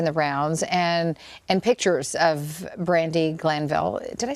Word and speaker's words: Brandi Glanville: This story has been making the rounds, and pictures of Brandi Glanville. Did I say her name correctly? Yeah, I believe so. Yeah, Brandi Glanville.